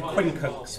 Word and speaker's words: quincunx: So I'm going to do quincunx first.